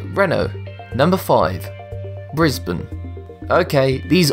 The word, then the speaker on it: Renault: Therefore, the correct pronunciation is Renault.